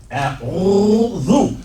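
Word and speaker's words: أعوذ: A'udhu. So that one word had 3 syllables.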